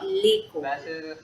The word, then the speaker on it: l'école: So I say leko. So you pronounce it together.